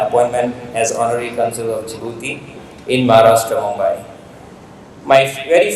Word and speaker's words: Djibouti: of you even I used to call it Djibouti so the pronunciation is jouti and not Djibouti so that is the time I first went